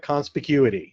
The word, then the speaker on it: conspicuity: us to this word that I can never pronounce properly no matter what of electronic conspicuity.